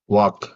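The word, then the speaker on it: walk: அதுபோல சுட் would வாக் இதுல வந்து எல் சைலெண்டா இருக்கும்.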